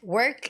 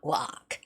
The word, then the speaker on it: work: It's work. Work is rather you have to not open your mouth. It's work, not walk.